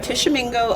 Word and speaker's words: Tishomingo: I am from Tishomingo, Oklahoma. Thank you for pronouncing it because I never can.